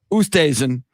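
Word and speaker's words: Oosthuizen: for second with uh my boy uh louis ustheisen did i get his pronunciation how do you pronounce it louis ustasen and of course colin maracala a 64 today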